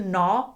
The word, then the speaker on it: gnaw: with English grammar no no the g is silent and this means to chew something for a long time usually causing a hole dogs like to gnaw on Bones my daughter